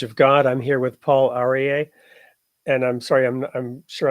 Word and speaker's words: Paul Aryeh: I'm here with Paul Aryeh, and I'm sorry, I'm sure I'm mispronouncing your name. Do you want to go ahead and share it with us? You said it perfectly, Paul Aryeh.